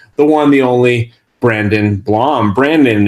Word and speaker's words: Blom: I say your last name correctly yes sir blong you got it as someone whose last name is mispronounced all the time I I want to